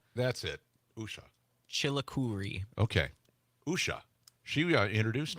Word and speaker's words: Usha: This is hard to pronounce. Usha That's it. Usha.